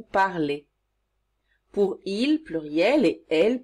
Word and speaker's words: parlez: Pour vous, on ajoute EZ et on prononce cela est. Vous parlez.